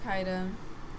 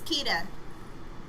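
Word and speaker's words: Kida: Yeah, it's Princess Kaida. Kaida. Oh, Kita. Kita. It's Kita.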